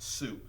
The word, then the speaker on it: Sioux: It's pronounced Sioux.